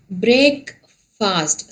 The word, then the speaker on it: breakfast: Next one is break fast. So it is breakfast. It is FAST. The spelling is FAST, but it has to be pronounced as breakfast.